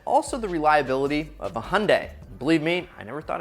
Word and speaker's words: Hyundai: to give it to hyundai which rhymes with sunday for what they did